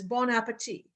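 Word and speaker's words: bon appétit: Most people would have said, actually, the way you're supposed to pronounce that is bon appetit.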